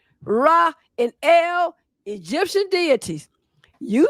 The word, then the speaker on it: Ra: So Ra, in many cases, was said to be pronounced as Re.